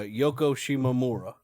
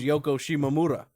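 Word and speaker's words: Yoko Shimomura: composed the music for Final Fantasy 15 uh Yoko shimamura right well the way it's actually pronounced is Yoko shimamura like with the kind kind of yeah the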